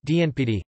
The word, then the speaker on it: Janapadas: The Janapadas, pronounced Dnpd, were the realms, republics, Gunapada, and kingdoms, Samarajya, of the Vedic period on the Indian subcontinent.